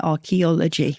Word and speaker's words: archaeology: a dip thong so much we just say archaeology and the pronunciation is the dipthong but when you talking